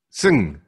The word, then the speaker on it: Sng: m-a-g-i-c s-n-g so sng is my last name my my family name okay and i believe i learned how to say it it's sing correct he has no powers